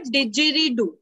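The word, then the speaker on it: didgeridoo: डिजरीडू, it's called डिजरीडू।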